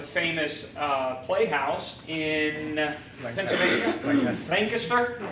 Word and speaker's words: Lancaster: uh playhouse in pennsylvania lancaster that's how you say it not lancaster lancaster lancaster uh and